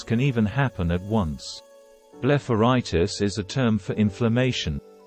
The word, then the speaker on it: blepharitis: Blepharitis, pronounced Blepharitis, means inflammation of the eyelid.